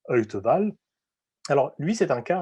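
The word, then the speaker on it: Wtewael: prononce son nom et wta whl ça se prononce heute balle alors lui c'est un cas un peu particulier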